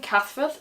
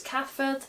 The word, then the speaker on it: Cathbad: As an example, the name Cathford is spelt with a B in the middle, Cathbad. But that B becomes a V, so it's Cathford.